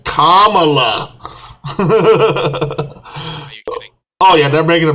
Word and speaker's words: Kamala: the democrats here say pronounce her name that way now it's kamala oh yeah they're making